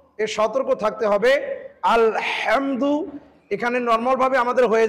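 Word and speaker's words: الحمد: কি করে পড়তেছি আলহামদু এই হাটাকে কন্ঠনালী চাপ দিয়ে আমাকে উচ্চারণ করতে হবে এটা বারংবার বারংবার যখন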